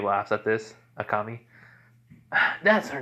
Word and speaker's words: Akame: As, Akame laughs at this. Akami.